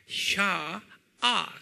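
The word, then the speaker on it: sha'ah: 이걸 유대말로는 뭐라고 부르냐면, 샤, S-H-A, 샤아, 그래요. 샤아. A-H. 샤, A를 두 개를 찍으세요. 샤아. 그래요. 한번 발음해 볼까요?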